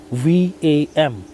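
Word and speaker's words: वं: recite the mantra VAM, V-A-M. V-A-M is how you write it, but you gotta pronounce it as VAM. VAM, V-A-U-M. You have to pronounce it like that.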